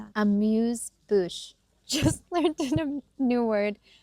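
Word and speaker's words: amuse-bouche: Amuse Bru. What is that? Amuse bouch.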